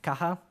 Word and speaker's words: Caja: now and Carson's box in Spanish this is why it is pronounced kaha we have some documentation